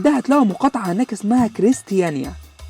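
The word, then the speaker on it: Christiania: هتلاقوا مقاطعة هناك اسمها كريستيانيا، الدنماركيين بينطقوها كغريستيانيا، وده عبارة عن حي ليه قواعد وقوانين مختلفة تماماً عن باقي قواعد وقوانين الدنمارك وكوبنهاجن.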